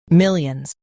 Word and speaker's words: Millions: Millions. Both US and UK have the same pronunciation of this word. Millions. Now read the syllables shown on the screen naturally. Mill. Yuns. Millions. Emphasize mill and soften yuns.